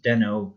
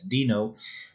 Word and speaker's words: Deno: Dino I don't know there's already a major disagreement among the developers community or its pronunciation some pronounce it as demo others pronounce it as Dino but whatever it is